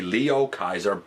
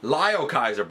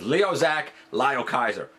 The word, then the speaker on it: Liokaiser: final member from the Liokaiser box set. I said that wrong. Liokaiser box set. Thank you, Input, for helping me to figure out exactly how to pronounce it. Liokaiser. Get it right, man.